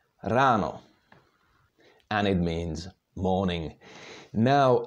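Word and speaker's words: ráno: the words in check the stress is always on the first syllable in the word so even if there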